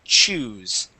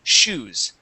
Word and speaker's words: choose: off is the word choose okay now um when you pronounce the the ch you had said shoes okay like an sh sound okay now the